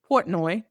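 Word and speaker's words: Portnoy: So, for those who don't know, I forget how to pronounce his last name. Dave Port. Portoi.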